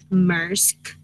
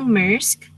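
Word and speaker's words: Maersk: 000 company laptops of the danish shipping giant musk okay pronunciation was affected and its data got destroyed by not yet so because nusira young computer system now mersk the ground staff had to uh manually check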